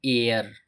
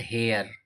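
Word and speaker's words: heir: बॉय एक ईमानदार लड़का एन एयर नॉट हेयर एन एयर एयर means होता है उत्तराधिकारी ई आई आर का प्रोनंसिएशन तो हो रहा है लेकिन एच का प्रोनंसिएशन नहीं किया जा रहा है नेक्स्ट टर्म दिया जा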